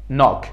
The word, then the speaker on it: knock: قبل از N اگه قرار بگیره تلفظ نمیشه. Like knock.